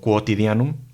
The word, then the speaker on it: quotidiano: griega y la ll la q seguida de una u se pronuncia como q en latín la uno nunca es muda como a veces pasa en español entonces al leer una palabra como quotidiano así es como se lee la hoja y tiene